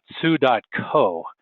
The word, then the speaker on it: Tsu: Um, Sue, uh, it's pronounced, uh, just like the the female name Sue is a, uh, a